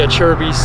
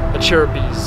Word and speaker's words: Acerbis: uh like a h chair as in the chair you'd sit in and then bees like plural for a bumble bee so a cherubies is how you how